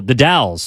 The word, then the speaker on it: The Dalles: Dells The Dales oh The Dalles the Dow it's spelled it sounds like Dallas right what is that so the dowels is just a town it's called the but it's the Dallas it's right on um